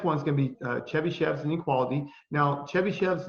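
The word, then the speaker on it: Chebyshev: The next one is going to be Chebychevs Inequality.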